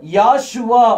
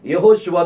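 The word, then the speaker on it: Yehoshua: வார்த்தையை இந்த யுசுவாங்கிற வார்த்தையை அவங்க யாஷுவா அப்படின்ட்டு உச்சரிப்பாங்க அதுல இந்த நடுவுல இந்த ஹெச் என்ன செய்யாது வராது வெறும் இய வந்து ஏன் மட்டும் தான் மாத்தி இருப்பாங்க சோ இந்த யாஷுவாங்கிற உச்சரிப்பு இது அராமிக் மொழியில் உள்ள உச்சரிப்பு இது ஹீப் மொழியில் உள்ள உச்சரிப்பு கிடையாது ஹீப் மொழியில நம்ம இயேசப்பாவினுடைய ஒரிஜினல் பெயர் வந்து யெகோஷுவா தான் அது யாரும் மாற்ற முடியாது நிறைய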